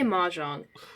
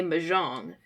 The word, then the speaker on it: mahjong: maang into this episode I'll say maang uh Pax will occasionally say mang and um Ivy will say maang and then we'll be